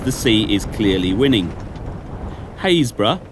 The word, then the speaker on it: Happisburgh: Haysborough, or as it's spelt, Happisburgh, the cliffs are retreating at a yard a year.